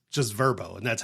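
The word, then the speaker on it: Vrbo: So, now it's just Verbbo and that's how you pronounce it, Verbbo.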